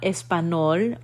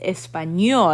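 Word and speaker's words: español: so like in espanol it's not espanol it's espanol and it gives us that sound that little tilde on top of the n so that's how you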